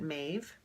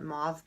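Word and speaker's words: Maive: it I think well I would pronounce it mave but I think I've heard her call it mauve base it's on M A I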